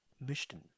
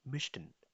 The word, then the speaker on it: möchten: möchten, pronounce with me, möchten, möchten।